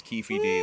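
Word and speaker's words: Keffe D: about this dude now um and it is Kefi D that is how it's pronounced uh so Kefi D or ke D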